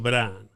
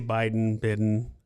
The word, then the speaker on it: Bidon: so actually, my name is Bidon. It's Aw. French Canadian. Yeah. My dad's French Canadian. My mother's Mexican. But people always say Bidon.